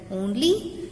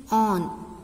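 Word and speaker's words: -one: Only the suffix word get changed as OL, propanol. Children, now come to another fun functional group, ketone. Here the suffix word is taken, that is on, O-N-E, one, that is usually pronounced that one,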